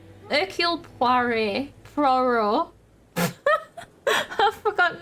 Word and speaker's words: Hercule: If you want to sound particularly fancy, you don't say the H in Hercule. Hercule Poirot.